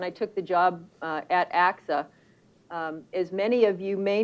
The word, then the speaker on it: AXA: half ago when i took the job at axa as many of you may know it's a